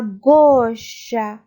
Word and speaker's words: gauche: À gauche. À gauche. A-U, voyelle composée, ça se prononce O.